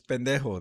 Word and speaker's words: pendejo: Yeah, but Deco, because I'm white, makes it funnier because I'm mispronouncing a slur. Also, pendejo is It's pendejo.